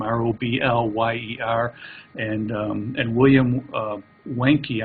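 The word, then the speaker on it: Wiencke: I think that's not how she pronounces her name, R-O-B-L-Y-E-R, and William Wenke, I think is how you pronounce it, W-I-E-N-C-K-E.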